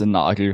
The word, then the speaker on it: Nagel: It's pronounced Nagel, but yeah, it's very German.